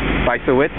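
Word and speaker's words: Bysiewicz: say her name B wit bis bis wit bisa wit yeah Bingo you know who is she yeah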